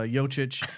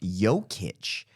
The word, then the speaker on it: Jokic: yeah couldn't pronounce uh yochich oh so you're wrong too it's pronounced yokich y o dash k-i-t-c-h I thought it was